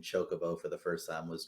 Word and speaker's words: chocobo: finally you stop and i was like it's pronounced chocobo that was a pretty good one but